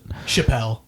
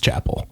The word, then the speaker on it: Chapel: Chappelle. Someone says Chappelle. Yeah. Yeah, no, it's Chapel. Yeah. It's definitely Chapel. Yeah. Chappelle would be French.